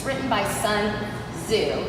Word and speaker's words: Tzu: it's written by sun zoo it's spelled t-z-u so it's a little tricky to pronounce i looked it up in the international chart it wasn't to zoo or something like that um but he has